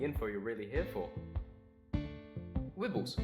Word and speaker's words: Wibbles: Wibbles, pronounced like nibble.